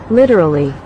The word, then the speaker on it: literally: the correct pronunciation instead they'll say this light D sound not d d d